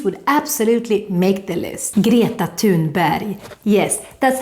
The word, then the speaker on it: Greta Thunberg: Greta Thunberg.